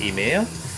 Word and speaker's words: Ymir: be the ladder i don't know this is emir it's spelled ymir but i have it on authority that is pronounced emir and uh this is like i said this